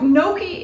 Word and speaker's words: Gnocchi: pasta in it and really the g is silent and the N is it's kind of like an ny sound if you can think about that so Noki is um like I